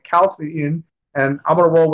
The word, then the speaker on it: Chalcedon: I always pronounced it wrong, Chalcedon, and no one corrected me until I saw people calling it Chalcedon.